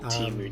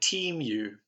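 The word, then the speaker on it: Temu: Did you just call timu timu? Maybe Timu. Wait, what did you say? Timu. Everyone calls it timu. What did I say? You said team you.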